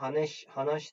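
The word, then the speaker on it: 話して: kuday Konuş lütfen derken Hana şite diye yazılıyor ama hanaş şeklinde telaffuz ediliyor bu şekilde mesela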